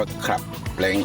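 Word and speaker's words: club length: c l u b club l e n g t s เลง อ่าน ว่า คับ เลง ครับ คือ นะ ครับ คือ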